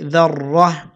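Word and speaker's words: ذرة: অকফ করলে অকফের সময় যদি গোলতা থাকে তাহলে সেটা হা হয়ে যায়, উচ্চারণ হবে ذره।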